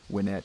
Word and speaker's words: Winnett: Do you pronounce that? Is it Winnett, or do you say Winnett or Winnett? Yeah, Winnett.